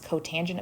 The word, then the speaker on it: cotangent: obviously cotangent Co again please do not say cot of theta that is not how you pronounce this this is cotangent of theta pet peeve of mine